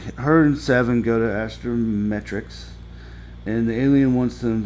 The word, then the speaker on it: astrometrics: There I said it said it right. I always want to say astromec like Star Wars, you know. And uh so her and seven go to astrometrics and the alien wants